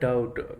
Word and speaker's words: doubt: In the word doubt, which letter is silent? D, O, B, T. So the right option is B. B is silent.